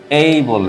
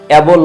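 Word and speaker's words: able: যেমন একটি শব্দ এইবল এইবল। এখানে কিন্তু এবল না। এবল উচ্চারণ এটা ভুল উচ্চারণ।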